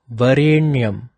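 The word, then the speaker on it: वरेण्यम्: So it sounds a little bit pressurized, like a na. It should be pronounced as Varenyam, not Varenyam. If your tongue is touching your teeth when you say the N in Varenyam, that is wrong.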